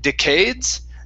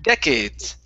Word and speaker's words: decades: is the word decades the stress is at the very beginning instead of decades it's decades decade okay give me an